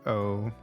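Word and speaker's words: を: Maybe it's just O. Yeah, it would be like Watashi wa Tomato O Abemasu, I think. Yeah, you write wo, but it's pronounced O.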